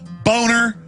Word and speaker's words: Boehner: yeah well know he the name is German it's a nice name it's pronounced boner and his whole life he even had ad campaign saying it's Boehner not boner hey if your if